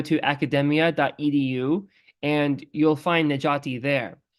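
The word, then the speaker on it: Necati: If you go to academia.edu, and you'll find Najati there. It's spelled, for those who don't know, Najati is spelled N-E-C as in Charlie, A-T as in Tom, I.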